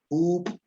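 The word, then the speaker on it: juup: Dime la palabra, estoy diciendo esta palabra que se escribe como J-U-U-P, glotal. Up.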